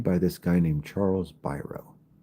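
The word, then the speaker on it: Biro: So he hires Chuck, and a lot of people pronounce his name Bureau, but it really is pronounced Byro because I've read a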